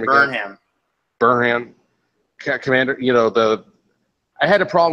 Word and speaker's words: Burnham: being able to commune with Spock's, with Commander Brennan, or Brennan. How do you pronounce her name again? Burnham.